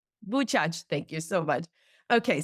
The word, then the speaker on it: Buczacz: How do I pronounce the name of the town? Buczacz. Buczacz, thank you so much.